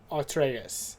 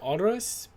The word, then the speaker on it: Atreus: Craft an outfit for Atreus, which I almost said Odorous, but then I'm like, wait, I played this game. I remember how they say his name.